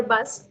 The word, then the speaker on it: bus: That's the word for bus. Bus. You're not saying bu. Saying bus.